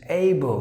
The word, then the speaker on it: able: Now you have to begin with this, able. Maybe the letter A is just A, but when you begin, you just have to begin like this. Able. The letter E is silent.